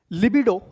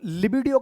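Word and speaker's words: libido: The particular word बेटा इट्स लिबिडो है ना लिब देखो लिबीडो यानी कि अगर आप बेटा वर्ड को पढ़ ना पाओ ना तो आप ऐसे पढ़ सकते हो ली ऐसे पढ़ सकते हो अगर आपसे प्रोनाउंस नहीं होता वर्ड तो पहले ली फिर बी और फिर डो लिबिडो ऐसे पढ़ सकते हो आप वर्ड को। ठीक है?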